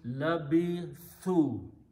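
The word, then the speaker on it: لَبِثُوا: Now, we put a sukoon on the waw, but in order to pronounce with the proper sound of waw, we have to change this letter, last letter's haraka to a dhamma from fataha. So it becomes labithu.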